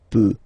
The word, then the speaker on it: peut: So you will put T at the end, you don't pronounce it. Il peut, elle peut.